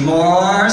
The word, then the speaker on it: Moar: Entry number 8 needs more sparkles. Moar spelled like M-O-A-R, you know?